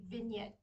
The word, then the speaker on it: vignette: Next thing we're going to talk about is a vignette. Yes, that's how it's pronounced, even though there's a G in the middle for no reason.